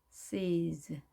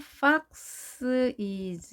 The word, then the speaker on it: foxes: fox is 이렇게 발음되지 않도록 조심하시고요. es를 약하게 본래 모음에 강한 소리를 주고 이렇게 발음을 합니다.